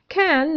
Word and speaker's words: can: Can ننطقها هنا can فقط، وهذا ما يسمى ب weak form.